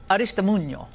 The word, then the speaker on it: Aristimuño: And here in Washington with me is Aristimuño, former DNC deputy press secretary. I love saying it, Aristimuño. I like saying it correctly.